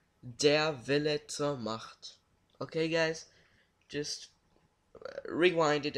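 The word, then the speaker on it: Der Wille zur Macht: will teach the world something how do you pronounce this game and it's Xenosaga episode 1 dare vi'lets ahmad ok guys just rewind it and listen to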